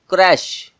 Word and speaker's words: crèche: आप सबसे पहले ये सोच रहे होंगे कि जो इसके स्पेलिंग है वो कुछ और है और इसकी जो प्रोनंसिएशन है, जो उसका उच्चारण है, वो कुछ और ही है। वो क्यों? दरअसल ये वर्ड एक फ्रेंच वर्ड है जो इंग्लिश लैंग्वेज में यूज होता है।